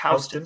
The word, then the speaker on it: Houston: It's spelled Houston, but it's not Houston Street. It's Houston Street. Yeah. It's named after a different family who just pronounced it differently.